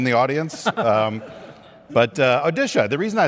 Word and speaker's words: Odisha: normally hear about but what's the pronunciation now odisha odisha right we used to call it orisa When We Were Young so just to